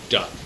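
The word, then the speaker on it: DUKW: pass the bow of their duw which they pronounced duck but he couldn't see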